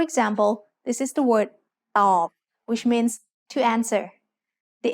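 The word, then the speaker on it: ตอบ: ต อ บ follows the same tone rule we just learned. Middle class consonants with a dead syllable form a low tone.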